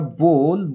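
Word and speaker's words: bowl: তো হি trip over বোল এটা বাউল উচ্চারণ করে অনেকে কিন্তু এটা শর্টিং উচ্চারণ হচ্ছে বোল অর্থাৎ বাটি তো একটা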